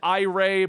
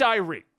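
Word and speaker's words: Irey: Now I've always said Ray, but apparently some people got upset with my pronunciations and think that I give a but it's Irie.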